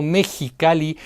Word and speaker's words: Mexicali: It sounds like J when we pronounce Mexico, Mexicali, Xalapa or Oaxaca; but it sounds like